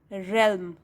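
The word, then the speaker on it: realm: India was imagined as a mysterious रेल्म, इसमें आप ए को प्रोनाउंस नहीं करेंगे, उच्चारण नहीं करोगे, साइलेंट होगा ये, रेल्म।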